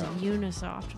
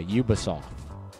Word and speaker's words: Ubisoft: I thought it was Unisoft. But I thought it was too. Let's see. Unisoft. UBI. Oh, yeah. Ubisoft. Ubisoft, boy.